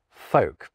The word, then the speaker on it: folk: You need them because otherwise you'd have pal and folk, but there is no L sound when I say them. Palm folk.